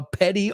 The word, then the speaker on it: petty: Los americanos, ya sabéis, lo pronunciamos más como una D.